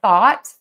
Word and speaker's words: thought: Taught and thought. Don't get messed up and confused with that A-U-G-H, O-U-G-H. In this situation, they are both pronounced as the short ah.